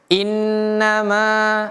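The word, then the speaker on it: إنما: Innama, ada mimnya di sini. Bisa juga seperti ini yang di tulisan ini. Sekali lagi, ini hanya tentang penulisan saja. Bacanya sama. Innama. Ma-nya panjang, 2 harokat.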